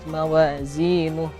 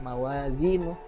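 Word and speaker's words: مَوَازِينُهُ: Kemudian fa'amma man thaqulat mawazinuh, zai itu kurang mendesis ya, zi malah ke huruf zal. Nah, jadi zai itu ada desisan, jadi harus dibetulkan lagi huruf zai-nya. Nah, tadi itu bacanya mawazinuh bukan mawazinu.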